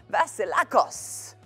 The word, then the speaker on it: Vasilakos: oh, this is when I get your surname all wrong. Vasilakos. How was that? Thank you. That was fantastic.